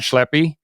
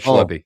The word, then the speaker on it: Schleppi: His name's Brad Schleppi, and I pronounced that right? Brad? Yes, sir. Brad Schleppi.